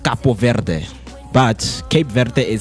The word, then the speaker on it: Cape Verde: Cape verde. Capo ver. So Cape, it's the English way of pronouncing Cape Verde. But the initial pronunciation because they were colonized by French. It's pronounced Capo Verde.